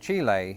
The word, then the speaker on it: Chile: When it turns out that Chile is closer to the pronunciation that you would hear.